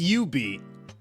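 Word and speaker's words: jubeat: And yes, it is pronounced UB. The J is silent.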